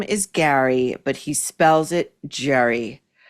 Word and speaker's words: Gerry: His name is spelled Jerry, but he pronounces it Gary.